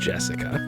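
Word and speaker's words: 朱志香: Anyway, is pronounced Jessica.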